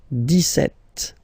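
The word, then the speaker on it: dix-sept: then for the pronunciation deset okay so you don't insist on the S deset setet okay then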